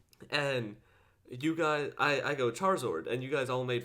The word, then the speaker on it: Charizard: Charizard. Charizard? Yeah, you against the Charizard, Charizard. because it's char, as in charcoal, as in whatever, fire, and lizard.